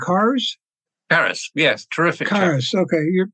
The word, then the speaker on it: Karas: You wrote about your mentor in the book, and his name was, I'm going to guess on the pronunciation, Karas? Karas, yes, terrific.